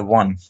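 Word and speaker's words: won: হি ওয়ান, এটা কিন্তু উন না, এটা ওয়ান।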